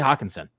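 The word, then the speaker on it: Hockenson: It's TJ Hawkinson. You got to say it like that.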